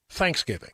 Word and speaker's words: Thanksgiving: And I have the same thing with Thanksgiving. To me, emphasis should be on thanks, but people put the they say the proper way to say it is thanksgiving. The emphasis is on the giving.